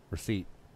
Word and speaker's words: receipt: Receipt. The P. Yeah. Because I always tell people it's a receipt.